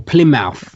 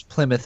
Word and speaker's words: Plymouth: the end they say like B mouth or P mouth I've heard people pronounce it like that well they are the only reason I know it's Plymouth is because there's a uh an well it's